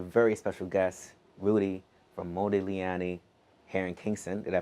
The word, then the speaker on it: Modigliani: Today I'm sitting with a very special guest, Rudy from Modigliani here in Kingston. Did I pronounce that right?